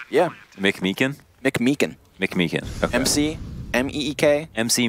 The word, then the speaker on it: McMeekin: Is that how you pronounce his last name? Yeah. McMeekin? McMeekin.